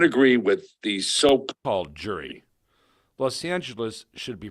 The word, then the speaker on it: Los Angeles: said of the decision the city council took a vote and decided on the official pronunciation of Los Angeles from that moment on would be Los Angeles well I never could